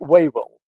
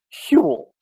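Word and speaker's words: Whewell: you see it written down it looks like wavel but it's pronounced hewl okay so hule was a specialist in kant you'll read german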